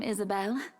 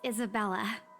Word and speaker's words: Isabella: it's a lovely name Isabelle it's Isabella yes that's great we'll be